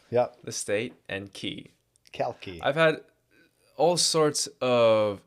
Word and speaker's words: Calki: yes, I pronounce my name as Kalki, like the state, California, and like Key, like DJ Khaled.